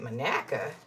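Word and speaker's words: Monaca: He said, "Manaka?" He said, "Well, you pronounced it the right way, so that means you really probably are from Manaka."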